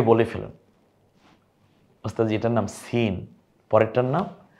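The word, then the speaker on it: سين: এটার নাম সিন। পরেরটার নাম শিন। দেখুন উচ্চারণটা একটু, সিন শিন।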